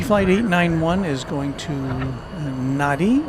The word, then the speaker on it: Nadi: Fiji flight 891 is going to Nadi or Nandi as it's very I've heard it variously pronounced which is its home base in the Fiji Islands.